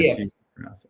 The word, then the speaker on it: Aliyev: How do you pronounce that name, Chris? Aliyev.